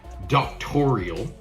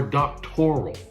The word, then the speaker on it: doctoral: It's not doctorial, it's doctorate or doctoral.